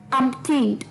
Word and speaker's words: umpteenth: अम्पटीन्ड, जी हाँ, इसकी प्रोनाउंसिएशन थोड़ी सी ट्रिकी जरूर हो सकती है। अम्पटीन्ड, umpteenth, UMPTEENTH, umpteenth, UMPTEENTH, umpteenth, यानी कि दोस्तों लास्ट